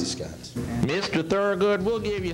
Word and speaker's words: J.B. Scott's: Am I saying that right? Yes, you're saying it right. Or is it T.B. Scott's? No, J.B. Scott's. J.B. Scott's.